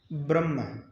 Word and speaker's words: ब्रह्म: तो म पहले आ गया, ह बाद में चला गया। उच्चारण के समय क्या हुआ, हम ये नहीं कहते ब्रह्म, नहीं कहते ना, ब्रह्म नहीं कहते, हम कहते ब्रह्म।